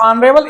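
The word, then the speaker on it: honorable: यहां हमने बताया था कि यह ऑनरेबल एच है, कॉन्सोनेंट है, बट it's pronunciation is ऑनरेबल, Wavell है, तो इसलिए यहां एन आएगा, तो यहां हम एन कर देंगे।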